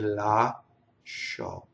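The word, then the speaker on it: lascio: One other thing is when you see the SC, right? It's sh. It's that, right? In an Italian, it has to completely go on the second syllable, whether you're speaking or you're singing, right?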